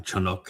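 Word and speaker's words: חנוך: And Enoch uh Chanuk as his name is properly pronounced learned about Yahwa from Adam who was dubbed and with empathy he immediately bonded with him to support him.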